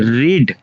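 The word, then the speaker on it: read: इस वाले को देखिए यहाँ पे दोनों का जो प्रोनाउंसिएशन है चेंज, तो पहला है बेस फॉर्म रीड होगा, सेकंड फॉर्म रेड, रेड इसका मतलब होता है पढ़ना, ओके।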